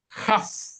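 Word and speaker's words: כף: Si no tiene el Dagesh, se pronuncia como una J, Jaf.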